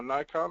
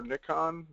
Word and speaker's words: Nikon: files which means they're Nikon or Nikon depending on what part of the world you pronounce it from uh raw files and